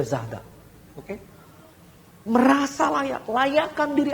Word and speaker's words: Zara: akan sebesar zahda ya Sebesar Zara itu bacanya zahda Oke merasa layak layakkan